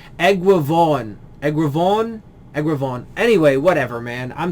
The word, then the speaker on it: Eguavoen: It's Eguavoen. Egravon. Anyway, whatever, man. I'm sorry, dude. I keep forgetting how it's pronounced.